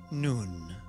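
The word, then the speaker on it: Nun: all is made possible noon noon is pronounced as an n as in the word nut it is the Greek letter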